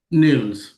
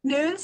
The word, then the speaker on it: Nunes: it here with Nas is that how you say your last name Nunes but noones I go I go by however somebody yeah pronounces it doesn't matter awesome awesome